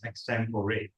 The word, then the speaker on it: extempore: to master abani actually pointed out that it the words pronunciation is extempore so extempore session is